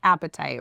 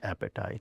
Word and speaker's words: apatite: So today we're talking about the stone appetite. Yeah. Beautiful colors. Yeah. And it's pronounced just appetite, right? Just appetite.